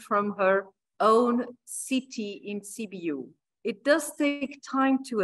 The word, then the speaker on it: Sibiu: It's Sibiu.